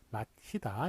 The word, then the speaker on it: 맞히다: 맞히다 이런 식으로 해서 발음은 마치다 똑같아요.